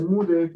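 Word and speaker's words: μ: Este microfaradio se llama UDF, o sea, se pronuncia MUDF, es una letra griega, ¿sí? No es una U común, esta es U con su colita, MUDF, ¿ya?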